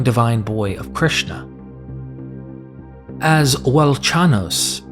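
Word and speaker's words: Velchanos: As Welchanos, pronounced Velkanos, is potentially a dialectical version of the Sanskrit Balakana.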